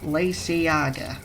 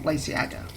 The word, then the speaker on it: Lysaga: And the apparent official-ish pronunciation of Lysaga, or Lacey, or whatever you want to call him, is Lysiaga, or Lysiaga, or Lysiaga.